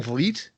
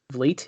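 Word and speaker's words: Vliet: guy who does like chris van bleet vlit is how you say it yes it's spelled really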